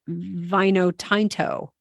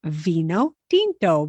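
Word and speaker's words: vino tinto: wine at the bar you won't say vinotinto you would say Vino dinto because you know how the vowels are pronounced yeah so great Maria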